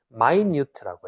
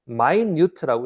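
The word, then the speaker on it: minute: 자,요 괄로 안에요 단어가 뭐냐면 발음이 마이뉴트라고 해. 마이뉴트. 무슨 뜻이냐면 어, 우리 미니 하면 1분이지. 그렇게 읽지 말고 마인뉴트라고 읽으면 형용사로 아주 미세한 뜻이에요.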